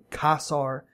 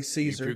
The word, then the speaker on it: Caesar: some electricity to and I'm pretty sure the names pronounced cos are even though nowadays we say Caesar gun and if you go poking around some of the abandoned places around here like the schoolhouse critters move in there sometimes thanks for the warning yeah back in in historical times cos our Caesar is the word that the titles kazar and czar came from so I believe casts are is actually the original pronunciation Oh Cheyenne stay don't